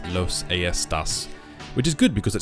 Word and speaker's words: Los Aestas: on mass that uh it's not in fact pronounced Los estas it's Los AAS which is good because it sounds even better